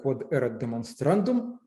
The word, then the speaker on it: quod erat demonstrandum: And this notation is pronounced in Latin as quod erat demonstrandum, and it's also called tombstone, halmos, end of proof.